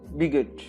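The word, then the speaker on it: bigot: राइट pronunciation is बिगट.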